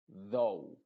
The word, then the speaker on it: though: En este caso, la U está siendo muda y la O es la que se está pronunciando. Se diría shoulder, boulders, mold, poultry, though.